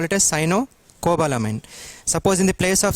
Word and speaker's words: cyanocobalamin: 80% of the times the students will pronounce this as sinocobalamin it is not sinocobalamin it is sinocobalamin Cino you have to pronounce then cobbalamine not sinocobalamin so don't break it here break it here sinocobalamine